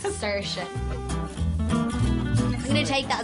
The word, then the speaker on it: Saoirse: my name personally I say s it's sersha look it's just Sasha dad's been outside telling everyone it's sersha I'm going to take